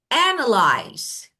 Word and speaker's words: analyze: example, when I say analyze and the first part is stress, I mean, I say the first part, I pronounce Mm.